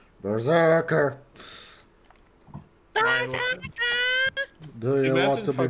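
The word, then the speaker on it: BRZRKR: Apparently Keanu Reeves wrote a comic called Berserker, but pronounced B-R-Z-R-K-R. Berserker.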